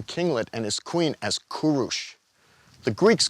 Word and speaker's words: Kūruš: He was born to a small Persian kinglet and his queen as Kurush. The Greeks called him Kyros, which the Romans then pronounced Syros, before finally ending up Cyrus in English.